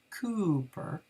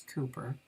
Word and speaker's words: Cowper: of the Christian church William Cowper pronounced Cooper so I guess it's Cooper I you would say Cooper was born on November